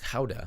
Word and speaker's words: Gouda: grams of fresh grated Gouda, or technically it's pronounced Gouda, a little bit of